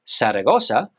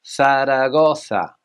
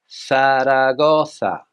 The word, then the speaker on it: Zaragoza: Now, this is a tricky one. In English, we would say Zaragoza, but in Spanish, Zaragoza, Zaragoza, Zaragoza.